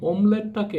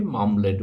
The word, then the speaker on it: অমলেট: তেমনি করে অমলেট, এই অমলেটটাকে আমরা উচ্চারণ করি মামলেট বলে, দুটো শব্দই প্রচলিত।